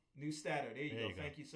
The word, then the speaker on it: Neustadter: Newsteader. Neustadter.